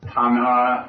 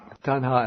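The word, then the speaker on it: taṇhā: and because of his my pronunciation is going to be terrible no tana and mana tanha and Mana okay because of those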